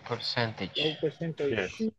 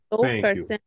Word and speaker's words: percentage: you thank you so this percentage it's percentage not it's not percentage not percentage no percentage repeat percentage percentage percent percentage percent percentage percentage percent percentage and that is correct very good observation thank